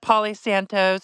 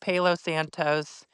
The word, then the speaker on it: Palo Santo: I call it Polly Santos. It's pronounced Palo Santos.